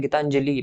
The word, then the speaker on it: गीतांजलि: तो गीतांजलि के अंदर आपको ली के ऊपर ध्यान देना है, गीतांजलि बस ली का उच्चारण लंबा न करके कम रखना है, क्योंकि ली के अंदर छोटी मात्रा यूज होती है, छोटी की मात्रा प्रयोग में ली जाती है।